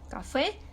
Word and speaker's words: café: lo tanto se acentúa café pasa lo mismo la sílaba tónica última ahí que recae la